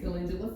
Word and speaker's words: calendula: Then calendula flowers. Spell that. What was it? Calendula. C-A-L-E-N-D-U-L-A. Like it phonetically sounds like calendula.